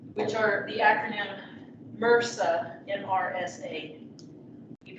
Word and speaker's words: MRSA: Which are the acronym MRSA, M-R-S-A. You pronounce this MRSA.